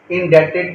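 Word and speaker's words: indebted: एम इंडक्टेड टू यू ध्यान रखिए जो बी है वो साइलेंट है साइलेंट का मतलब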